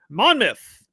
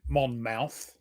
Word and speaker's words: Monmouth: to play Monmouth and it's like Portsmouth where the myth the mouth it's not mouth, it's myth. Monmouth. Mth. Pronounce things weird. I'm surprised you don't pronounce it monm mouth. Yeah, that's that would be about what we do. We would change it to that, but obviously that's not it.